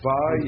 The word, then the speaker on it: vav: a doggish in it so you got to pronounce that like a V yeah so it's it's it's VAV yeah yeah eloh Elohim